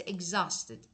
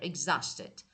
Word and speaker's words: exhausted: And this one is exhausted. H is silent. You're exhausted.